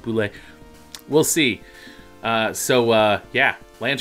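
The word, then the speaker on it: bulette: name the boules Sublette spell boo let but it's pronounced boo lick we'll see so yeah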